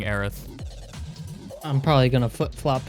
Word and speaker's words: Aerith: was in it and I think it's actually pronounced Eris but it's spelled Aerith I had I had a source on that but I don't remember it so I'm gonna keep saying Aerith I'm probably gonna flip